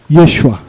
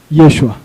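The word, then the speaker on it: ישוע: O nome de Josué em hebraico é Yehoshua. Yehoshua. E esse outro nome aqui em hebraico é Yeshua. Vou repetir. Yehoshua. Yeshua.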